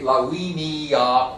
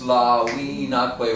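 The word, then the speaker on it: Laviniaque: Now, please note that your books probably say lawiniaque venit. I reject that simply because it has too many syllables. Something's got to give, right? And you can't say lawiniaque venit because it sounds funny, right?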